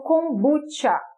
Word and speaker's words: kombucha: é lá de fora faz a referência como kombucha, como se tivesse esse T e esse CH, tá?